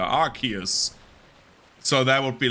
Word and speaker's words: Arceus: Or Arceus, sorry. That's how it's pronounced in the trailer. Arceus.